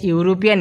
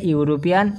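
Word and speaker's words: European: সেখানের মধ্যে এ হবে, my brother is studying a ইউরোপিয়ান university. যেহেতু ইউর উচ্চারণ যে কোনো বাউলের উচ্চারণ যদি ইউ এর মতো হয় তাহলে তার আগে এন না বসে এ বসে।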